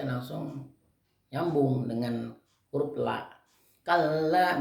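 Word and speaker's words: كلا: Kalla bukan kala gitu. Kala itu salah kalau kala, tapi baca kalla, ada tanda sabdullah ya.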